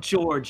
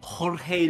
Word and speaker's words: Jorge: ] mispronouncing his name it's not George you idiot it's Jorge Luis Borges I know that name now ah Jorge so Jorge is the kind of